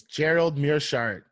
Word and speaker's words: Gerald Meerschaert: I can't pronounce this dude's name. It's Gerald Meerschaert.